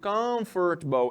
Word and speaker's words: comfortable: Palavra em inglês que termina com a letra E, sendo sílaba, não existe. Ela não forma sílaba.